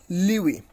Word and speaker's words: lewe: So it is LEWE, Liwi. You can also pronounce you can also know the pronunciations of this particular word clicking on this on this sound icon.